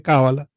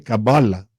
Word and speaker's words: Kabbalah: idioma lo estés diciendo puede decirle cábala que es en español puede decirle cabala que es en hebreo puedes decirle cabal que es en inglés pero al fin del día son tres sílabas de hecho la primera